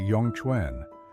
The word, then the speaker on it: Yongquan: They call it Yong Kuan, pronounced roughly Yong Chuen, which translates beautifully to gushing spring.